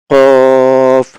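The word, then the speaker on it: ق: জিহ্বার গোড়া কি হবে? তার বরাবর উপরের তালুর সঙ্গে লাগিয়ে, এই যে তালুর সঙ্গে লাগিয়ে, এই যে জিহ্বার গোড়ার অংশ তালুর সঙ্গে লাগায়ে উচ্চারণ হবে। কফ, কফ, কফ, কফ, ফা, কফ, ফা, কফ, এরকম।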